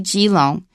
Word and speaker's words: Keelung: in a place and ke long is actually gong in Taiwanese it's gong so you can kind of see where it came from that spelling and lures a